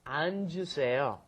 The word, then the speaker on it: 앉으세요: Because it's got the double 받침 there. So you've got to go 안, and then the J sound comes up, 앉으세요.